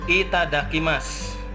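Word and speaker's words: いただきます: Kemudian di sini ada itadakimasu ya. Ada itadakimasu. Tulisannya tetap su ya. Di sini ada masu ya, sunya seakan-akan u ini hilang.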